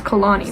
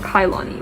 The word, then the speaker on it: Kalani: Yeah, their name is Kalani, not Kailani.